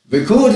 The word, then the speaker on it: record: on those were records notice record with the stress on the first syllable because it's a noun if you have a